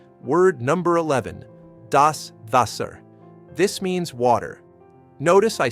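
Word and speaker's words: Wasser: And notice the W sounds like V. Vaser. Word number 12.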